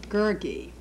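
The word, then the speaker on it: Gurgi: Lloyd, many of my students are interested where you got the curious character of Gergi. Did I pronounce it correctly?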